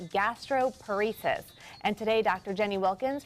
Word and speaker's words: gastroparesis: gastroparesis? Well, it's exactly how it sounds.